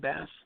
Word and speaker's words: Bast: How do you pronounce that? Bast.